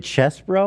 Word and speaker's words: Chesebro: Is it Chesbro or is it? I mean, it's spelled like cheese. It's CHESEBRO. It's like probably Chesebro, maybe.